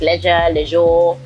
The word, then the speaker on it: Leshurr: They think it's leisure, leisure, Lady Leshurr, and So stuff like Leshurr.